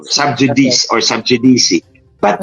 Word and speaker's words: sub judice: mga kababayan natut subj sub judice o sub judice or sub jdc but it's a latin word J in Latin is pronounced y and when c is